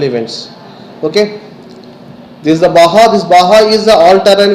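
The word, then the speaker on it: Baja: it out, the BAHA, though it is mentioned as the BAGA, JA, you have to pronounce it as a BAHA.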